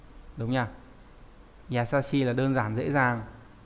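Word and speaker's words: 易しい: Đọc là yasashi, đúng nhỉ? Yasashi là đơn giản, dễ dàng.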